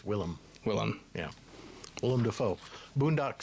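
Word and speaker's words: Willem: I know you pronounced his name. It's William. Will I am? It's Willm.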